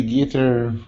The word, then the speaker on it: guitar: Can you play guitar with us? Can you play guitar with us? Okay. In English, it's not guitar, it's guitar. Second syllable stress.